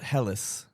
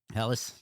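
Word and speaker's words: Helles: So on the table we do have other robots which is a Hell's Logger from Baldirds. I I absolutely love that beer. Solid. It's pronounced Heelis. Helis.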